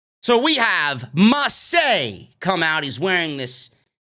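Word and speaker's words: Ma.çé: comes mace they renamed him it's still spelled m-a-c-e but it's not pronounced mace it's pronounced massey so we have marseille come out he's wearing this button-down fancy floral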